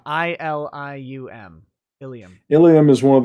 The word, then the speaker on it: Ilium: saying you know uh eagle alone no it's spelled ilium i-l-i-u-m ilium ilium is one